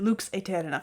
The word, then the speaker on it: Lux Aeterna: it its own identity Lux Eterna really um why do I pronounce it Luke's Eterna well of course because it's Latin and as a classical